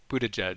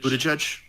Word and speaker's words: Buttigieg: Pete Buttigieg. Buttigieg, yeah.